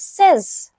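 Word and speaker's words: seize: 16 is pronounced as says.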